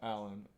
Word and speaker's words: Allin: who's introduced to us, Darby Allin, or is it Darby All In because his name is spelled A-L-L-I-N. All in. I didn't think about that until I saw this, like the way he spells his name.